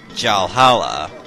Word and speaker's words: Jalhalla: has a different name jalhala basically rhymes with the term for a vikings version of heaven known as valhalla what you have to